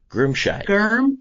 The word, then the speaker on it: Girmscheid: Groomshy.